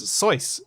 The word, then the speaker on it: Soyuz: i was pretty close soyuz uh which rhymes with voice yes i thought it